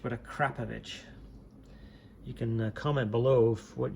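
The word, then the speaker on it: Akrapovič: and you know, I've heard many ways to pronounce that, and my current understanding is the correct way is a Krapovich, not Akrapovic or a Kropovich, but a Krapovich.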